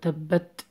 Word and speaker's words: تبت: You have to pronounce that like tabbat. Hams, whispering.